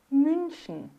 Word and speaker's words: München: Mas a pronúncia é boca de U e se fala um I, ó. München, fünf.